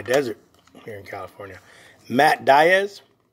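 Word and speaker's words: Díaz: Matt Diaz. He pronounced it Diaz. He was not Diaz because I believe he's Portuguese.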